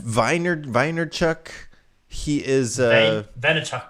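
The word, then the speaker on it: Vaynerchuk: gary how do you say his last name weiner weiner chuck he is uh vanachuk i i definitely have watched much of his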